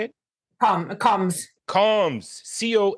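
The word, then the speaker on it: Comz: Comms.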